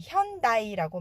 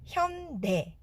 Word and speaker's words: 현대: 자, 미국에서는 현대의 발음을 현다이라고 많이 하시는데요. 한국어를 영어로 옮기는 과정에서 어쩔 수 없이 AI를 쓰다 보니까 이게 미국식 발음으론 현다이입니다. 하지만 한국 발음은 현대.